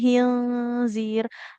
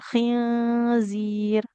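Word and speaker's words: خنزير: Huruf kh-nya jangan seperti ha. Jangan hinzir ditenggorokan kita yang paling atas. Eh ya walahmal khinzir.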